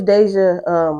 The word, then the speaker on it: Daizza: So yeah, my name's Deja. It's spelled Daizza.